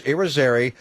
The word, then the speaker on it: Irizarry: And by the way, you did pronounce Joe Irizarry's name properly. It's Irizarry.